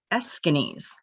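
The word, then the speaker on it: Aeschines: do this it's because of this guy that's pronounced as eskinis um was an orator from greece and i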